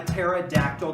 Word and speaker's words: pterodactyl: you can't hear a pterodactyl go to the bathroom let me drink first well they think about that one because the p is silent that's great so uh